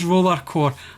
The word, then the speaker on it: Rollercore: But it doesn't get pronounced Roller X Core, it's just Rollercore.